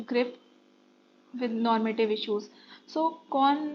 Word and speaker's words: Kuhn: Next 107 question says that Kuhn Thomas कुन कुन है बट एच साइलेंट आएगा यहाँ पे if I'm not pronouncing it wrong.